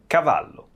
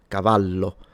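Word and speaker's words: cavallo: And one last thing I wanted to say is that of course the double L in Italian is just pronounced as a longer/ stronger version of the single L. So, Cavalo, if this was spelled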